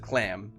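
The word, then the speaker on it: Chlan: They pronounce it clam, but it's C H L A N.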